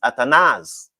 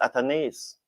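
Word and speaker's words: Athanaze: Some persons used to come on and say the man name pronounced atanaz. And so me listen to them and start pronounce it at. And then at came in an interview and said my name pronounced atones.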